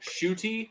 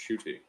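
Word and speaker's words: Ncuti: no oh yeah but yeah it looks cool shooty is how you pronounce his name i've learned it's the n-c-u-t-i right yeah yeah um it's pronounced shooty so that's not certainly not something that i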